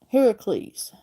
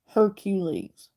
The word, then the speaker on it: Heracles: pronunciation of that because the correct pronunciation of Hercules would have been Heracles they're heraculates it wouldn't been Hercules so big movie companies who've made Hercules movies over the last decade pronounce it wrong just an interesting fact